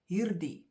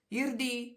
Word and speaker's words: hierdie: We talk too fast, we mispronounce, and we leave out the D.